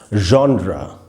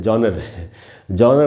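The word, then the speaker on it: genre: Sound है vision या जॉनरा, तो आपको वाइब्रेशन महसूस होगी। बाय द वे आपको ये बता दूं, ये जो वर्ड है इसको लोग जॉनर बोलते हैं, जॉनर नहीं है, इसका उच्चारण है जॉनरा।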